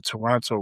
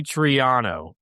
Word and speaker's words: Triano: Wait, his name is Jay Toronto? No, Jay Triano. His name is Jay Triano.